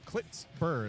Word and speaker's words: Klitsur: Yeah, Klitsur is how he told me.